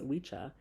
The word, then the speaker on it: Wicca: as I stated before Wicca properly pronounced as wicha is an Old English